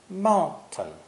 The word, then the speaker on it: mountain: you can probably hear this special pronunciation mountain ma hmm in everyday American speech TM sounds are often pronounced this way this sound is easy to make but hard to explain first say MA and keep your tongue in the T position behind your teeth don't say mount to mount to say